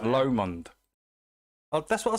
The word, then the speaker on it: Lomond: Lomond. That's what I said. Specifically. That's what I'm saying, Lomond. I'm saying Lomond. I've got to pronounce it like a Scotsman.